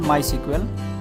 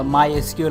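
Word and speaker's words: MySQL: আমরা ডাটাবেস হিসেবে ইউজ করতেছি মাইসিকিউএল বা মাইএসকিউএল অনেকে প্রোনাউন্স করে।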